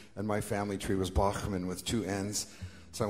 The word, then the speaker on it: Bachman: And he said, "So how do you say your name Bachmann now?" And I said, "No, I say Bachmann.